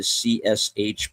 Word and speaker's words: CSH: Alpha Company was the medical portion of the CSH, pronounced like cash, consisting of emergency medicine,